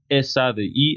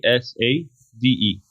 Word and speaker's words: ESADE: Am I pronouncing it correctly, in Barcelona? ESADE, ESADE.